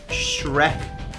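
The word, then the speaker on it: Schreck: attack in M obviously Sam Shrek yes like the cartoon character uh it's not spelled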